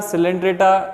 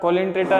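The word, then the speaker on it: Coelenterata: इनको लर्न कैसे करना है, देखो प्रोनाउंसिएशन पोरीफेरा, सिलेंट्रेटा, कोलेंट्रेटा नहीं है ये, सिलेंट्रेटा, निडेरिया ही बोलते हैं इसको।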